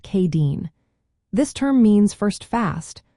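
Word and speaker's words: Céadaoin: Next up is Wednesday, which is called Sayadine, pronounced Kadeen.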